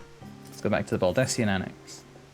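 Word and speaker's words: Baldesion: go back to the baldessian annex you believe i used to pronounce this baldusian dad okay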